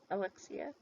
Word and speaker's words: Alexia: Oh, um, Alexia said, is that how you say her name? Alexia? Alexia? That's right, Sandy.